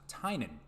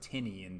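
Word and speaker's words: Tynion: horse's mouth the guy himself that it's actually pronounced Tainan I would have never have guessed that so it looks like Tinian to me but hey James Tainan artwork is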